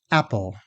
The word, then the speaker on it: apple: Think of the word apple. The stressed first syllable is said fully, meaning louder, longer, and with a pitch glide, while the second syllable pull is said quickly, softly, and with less facial muscle movement, and the vowel becomes a schwa, or Let's try it together.